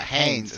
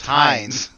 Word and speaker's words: Heinz: I'm gonna look at him and say, my name is not Haynes, it's Heinz.